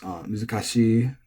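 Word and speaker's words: 難しい: to say especially, but there are many common e-adjectives that are pronounced both, that are acceptably pronounced both flat and accented, even like NHK proper announcer voice. I think one was, for instance, muzukashi or kanashi.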